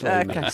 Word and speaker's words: Les Mis: Les Mis.